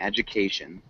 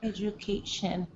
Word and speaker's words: education: one small thing amy education it's got a ju sound at the beginning education judication education oh yeah education perfect good job amy